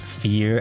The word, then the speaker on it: Vier: Ver is pronounced fear and is German for four.